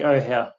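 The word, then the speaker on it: Ohau: kilometers what so how how do you pronounce it like ho hoo like oh ohow yeah the mountain range on the left is the Ben oh house and that's lake ohow so looking at the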